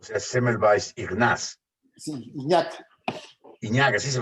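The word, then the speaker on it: Ignác: Iñak, así se pronuncia.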